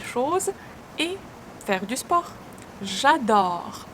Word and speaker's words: j'adore: J'adore. O. Open O sound. Open your mouth widely. J'adore. E is not pronounced.